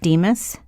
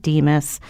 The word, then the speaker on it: DMHAS: Yes, if you just put in your browser Connecticut DEMIS, you will be taken right to it. And DEMIS is spelled DMHAS for Keith.